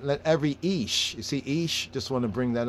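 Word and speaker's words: איש: every man right let every ish you see ish just want to bring that up right there ish it's not ish not ish proper pronunciation the hebrews not ish it is some might say ayash but it's because they really don't really understand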